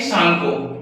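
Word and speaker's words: Tsangpo: वहां पे इसका नाम होता है भाई सांगको। क्या नाम होता है? सांगो। टी यहां पे साइलेंट होता है। हम इसे सांगो पढ़ते हैं।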